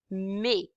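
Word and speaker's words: mets: This is pronounced as may. Okay. M E T S ending Ts we do not pronounce it and it's pronounced as may I put you put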